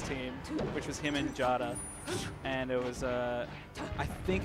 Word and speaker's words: Jada: Because, you know, sometimes J-A-D-A is sure. Jada. Sometimes. Yeah. And Dom Hines responds with a picture of Jada being like, actually, it's like a Swedish thing. It's, you say it like Yada.